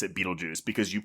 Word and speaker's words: Betelgeuse: So, but it's spelled with that Betelgeuse, but it's still pronounced Beetlejuice.